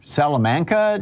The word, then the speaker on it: Salamanca: i appreciate the call mark in the salomon salamanca new york am i saying it right mark